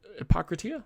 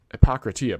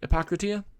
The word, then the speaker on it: Hippocrates: do you pronounce that I always used to say it Epocrates but that doesn't make sense I feel like that I shouldn't shouldn't make that sound um I just thought